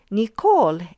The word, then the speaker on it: Nicole: For example, Nicole in English has a stress in the second syllable, ko, so we usually write Nicole.